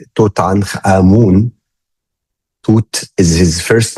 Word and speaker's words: Tutankhamun: His full name, I pronounce it in like the how we pronounce it in Egypt, Tutankhamun.